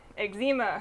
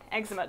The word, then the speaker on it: eczema: that i have um eczema or eczema depending on who you are and how you say it on the back of